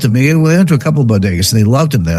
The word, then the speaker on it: bodega: couple years ago and she said Boda and I was like what the heck's Boda but I realized that she couldn't pronounce Bodega which is you know